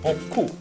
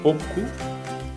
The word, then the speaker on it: beaucoup: It means merci and you add beaucoup. It's also in two different syllables. Beaucoup, it means beau. This is the third one. And the fourth one is coup.